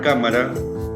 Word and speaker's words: cámara: Bien, como vemos en el ejemplo, la palabra cámara se ha dividido en 3 sílabas: ca-ma-ra. La mayor fuerza de voz recae en la sílaba, ¿cuál? Última, penúltima, antepenúltima. En la antepenúltima. Por lo tanto, estoy frente a una palabra esdrújula.